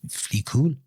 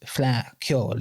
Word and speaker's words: Fleadh Cheoil: Why do you say you were a Fleadh Cheoil? Uh no, Hector. It's pronounced Fleadh Cheoil. It's Irish, it's Gaelic.